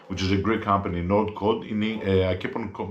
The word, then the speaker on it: Nordcode: I've done many I keep on pronouncing the company, which is a Greek company, Nordcode. I keep on pronouncing it Northcode. Sometimes I say Nordcode, sometimes I say Northcode. So it's Nordcode.